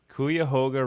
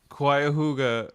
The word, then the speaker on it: Cuyahoga: The boat chase scene was filmed on the Cuyahoga River in northeast Ohio.